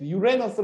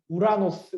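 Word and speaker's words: Uranus: 예 유안 an 위에 유에너스 라고 이제 영어 발음은 합니다 예 영어 사전 도구는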